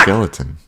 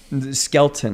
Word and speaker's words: Skelton: Who the fuck is Red Skeleton? Red Skelton. He's a older comedian. Red Skellington? Skelton, I believe is how it's Skellington?